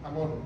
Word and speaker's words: Amón: Entonces Manasés tiene un hijo que se llamó Amón, con acento en la O, Amón, el 15.